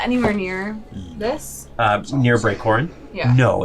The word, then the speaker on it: Koren: It's K-O-R-E-N, So it's about right? you're about halfway between the two. Interesting. Yeah. It's Corin, K-O-R-E-N.